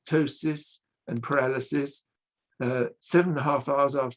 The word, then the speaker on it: ptosis: familiar to this audience well i pronounce this ptosis but you might call it potosis or something like that i don't know it's paralysis